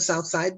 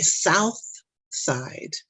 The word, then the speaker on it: south: that i'm from the south side because i don't pronounce the h in south okay i don't say south side right i'm from the